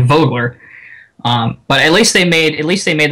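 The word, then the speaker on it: Vögele: It's the same thing with, with the Wirtgen Group's paving lineup, which is Vogler, and it looks like Vogel or whatever, but it's actually Vogler.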